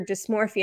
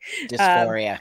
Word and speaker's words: dysphoria: So it seems like gender dysmorphia and sort of the tradition, dysmorphia? I said it wrong, didn't I? Dysphoria. That's okay.